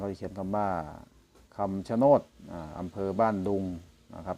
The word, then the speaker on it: คำชะโนด: ชะโนด นะ ครับ ผม ด้าน ล่าง อ่าน ว่า คำ ชะโนด นะ ครับ ดู ผ่าน